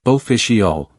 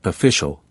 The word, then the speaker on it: official: Now consider the word official. It's not pronounced like official, but more like official, with the middle vowel barely pronounced.